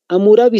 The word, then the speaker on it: Hammurabi: Hammurabi se escribe con H al inicio y con doble M.